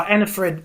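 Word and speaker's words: Anni-Frid: Yeah, is it Annie Fred? How do you pronounce? Oh, Anna Fred.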